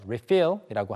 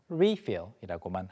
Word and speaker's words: refill: 발음은 사람에 따라 조금씩 달라서 refill이라고 하는 사람도 있고 refill이라고 하는 사람도 있는데 리필 자체 명사로 가리킬 때는 항상 refill이라고만 합니다.